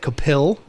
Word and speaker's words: Kapil: Okay, to be fair, it's spelled P-I-L. It's like Kapil.